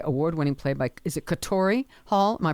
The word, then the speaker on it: Katori Hall: So it's a 2010 Olivier Award-Winning play by, is it Katori Hall? Am I pronouncing that correctly? Katori Hall.